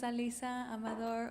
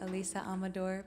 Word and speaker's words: Alisa Amador: so bear with me my name is alisa amador or alisa amador both are correct pronunciations of my name i was raised by